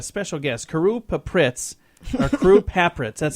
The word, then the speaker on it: Carew Papritz: We got a special guest, Carew Papritz, or Carew Papritz.